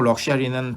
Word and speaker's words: luxury: 하지만 명사는 luxury. S자 길게 늘어뜨리는 쉬 발음이 나와야 되는 거죠.